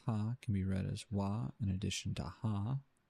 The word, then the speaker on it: は: You might remember hearing that ha can be read as wa in addition to ha. Sounds vaguely familiar. When the ha is used to mark the topic of the sentence, it is pronounced wa.